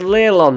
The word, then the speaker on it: Leilon: This is pronounced Leylon.